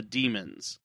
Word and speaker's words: Daemons: I always wondered whether to pronounce it Daemon or Demon, but I guess it's the way they said it in the episode, it was the Demons.